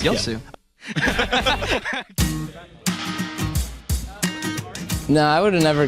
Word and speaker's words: Yasuo: How many more times do you mispronounce Yasuo? Yasuo? Yasuo. Yosu? Okay. Yosu. Yosu. There we go. You're pronouncing it wrong. It's Yosu.